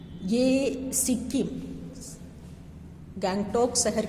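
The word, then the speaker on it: गंगटोक: राज्य की राजधानी देखिए यहां गंतोक लिखा हुआ हिंदी में उसी को हम लोग जो उच्चारण करते हैं गैंग टॉक कहते हैं और उसके आगे हिमालय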